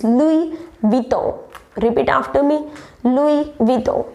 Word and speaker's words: Louis Vuitton: Yeah, Louis Vuitton or something like that, but no, it's not Louis Vuitton, it's Louis Vuitton.